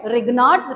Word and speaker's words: Grignard: Ma'am, can we call this Grignard? No, actually G is silent here. Okay, we call it Grignard reagent.